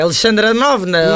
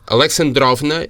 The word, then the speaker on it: Alexandrovna: Alexa tem uma pronúncia inglesa, desculpa lá, é Alexandra Novna. Não, Alexandrovna é a filha do Alexander.